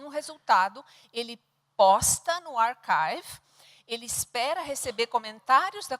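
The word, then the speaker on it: arXiv: Ele chama-se Archive, se escreve archive.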